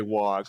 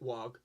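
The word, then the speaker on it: Waaagh: Some people do pronounce it wog. It varies from media to media. Like you'll notice in Space Marine, I think it is, they say wog. They pronounce the G. Yeah. In Dawn of War, they go it war.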